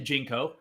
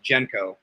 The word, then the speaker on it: JNCO: you say it anyway because it's spelled jnco so there's no vowel there i've heard uh right jenko that's the official way to say it right from the owners jenko okay there there's the